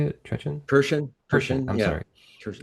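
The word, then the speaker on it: Kirchin: And then I was listening to Basil Trechen. Is that how you say it? Trechen? Kirshen.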